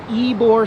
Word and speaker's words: Ybor: And they made this spot here in Ybor. I asked somebody how to pronounce it, Y-B-O-R.